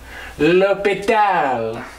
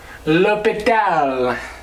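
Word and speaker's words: L'Hôpital: about l'hopital's rule how do you say that l'hopital lopita i wish he had more than rule one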